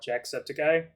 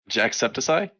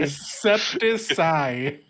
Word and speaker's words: Jacksepticeye: Jacksepticeye. That's his name, isn't it? I'm keeping Septiceye. Yeah, Septiceye. Oh man. I'm keeping a tally. That's 3 words he's said wrong so far. It's septic.